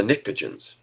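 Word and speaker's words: pnictogens: The nitrogen group are the nicrogens spelled with a P.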